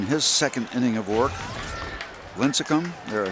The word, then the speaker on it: Lincecum: Lincecum, there I said it right that time.